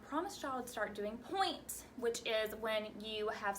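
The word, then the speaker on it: pointe: of your toes and this point isn't like a point at you that's not the way it's spelled it's spelled p o i n t e point and so we're gonna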